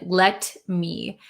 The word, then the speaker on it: let me: wrote down let me so this T kind of disappears in let me so uh a lot of the times Americans will say Let me let me instead of let me